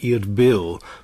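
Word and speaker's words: Erbil: um took place near what's today IR bill which is the modern pronunciation of arella and how old would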